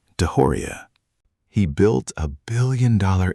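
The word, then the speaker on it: DeJoria: If you'd think Khan's rise sounds impossible, wait until you hear about a door-to-door shampoo salesman named John Paul Deoria, pronounced Deoria.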